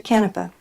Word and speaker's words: Canepa: member of city council thank you for also pronouncing my last name correctly that is a feat unto itself so thank you I happen to know several people with that last name we got lucky okay all right this is good there are kanepas I've heard too that they pronounce it differently so anyways well thank